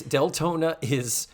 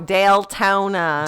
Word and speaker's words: Deltona: And that's Deltona she's not mispronouncing Daytona. No, Deltona. DEL.